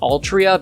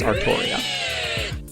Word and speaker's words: Artoria: look like oh yeah the game calls saber by the name of altria because of localization but i don't care and i prefer to pronounce it as artoria long story short it's